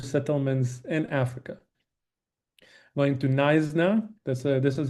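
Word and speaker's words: Knysna: um first Jewish settlements in Africa going to Nisna. This is how you pronounce this um city um Nisna.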